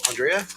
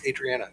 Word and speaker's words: Adriana: We had Andrea, or that's not right. Adriana. I knew I was going to say it wrong because I know it's not Adrian. Anyway, Adriana and who's our